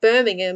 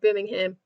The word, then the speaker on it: Birmingham: No, we don't say the H in that. It just gets completely skipped over, and the A is a U.